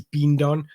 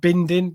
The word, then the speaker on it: Bidon: pronounce his name, and it is Bidon, not Bindon, what I was saying previously.